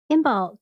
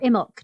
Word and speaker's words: Imbolc: the year bonus episodes imbolc or immoke depending on who you ask see that's why and